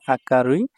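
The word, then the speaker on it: 明るい: আকারুই নামে চেনা হয় জাপানিজ উচ্চারণ হচ্ছে আকারুই অর্থ হচ্ছে উজ্জ্বল আর এটা চাইনিজ উচ্চারণ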